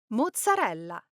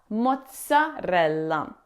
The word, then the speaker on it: mozzarella: It's not a soft z sound like in zebra. It's a strong t sound like the th in cats. Moza mozzarella.